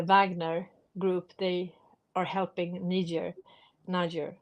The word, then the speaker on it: Niger: And also the Wagner group, they are helping Niger, how do you say that? Niger, yeah, to get rid of the French and the Americans And the Swedes.